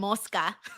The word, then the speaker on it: mosca: No, you're confusing mascara and moska. Moska. What's moska? Moska is fly. Muska is mask. Okay. Okay. Mo, wait. Say it one more time. Moska is fly. Mosca is fly.